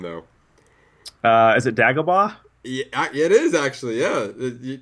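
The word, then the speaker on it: Dagobah: cool pin I want I want you to pronounce the uh the name though uh is it dagaba yeah it is actually yeah wow look at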